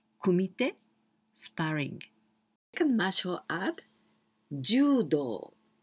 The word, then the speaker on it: judo: Second martial art, judo. Judo. Long sound with u.Judo, and with this kanji.